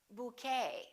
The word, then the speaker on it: bouquet: the et ending and in the french language the t is almost always silent so english speakers pronounce it the same way we don't say ballet we say ballet a few more e.t endings bouquet like a bouquet of flowers buffet valet and one more chevrolet we don't say chevrolet